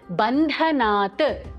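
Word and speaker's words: बन्धनात्: Third, Bandhanat, Dha Mahaprana.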